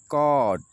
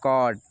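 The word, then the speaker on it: caught: जैसे लिखा है ये कॉट, ए यू और जी एस साइलेंट है, बताएंगे, इसकी वीडियो बनाएंगे और आपको बताएंगे सही, ठीक है। ये लिखा कॉट, ठीक है।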